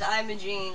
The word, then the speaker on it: Imogene: It's pronounced Imogene, like... And how come there's no I? Because it's... The E is pronounced like an I.